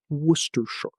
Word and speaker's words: Worcestershire: Sounds like Worcestershire. 3 syllables. Most of the word is silent. Tip. This is a place name in England and the name of a famous sauce. Most of the letters are silent. Just say Worcestershire.